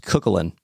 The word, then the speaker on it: Cúchulainn: But his name is properly pronounced Cúchulainn.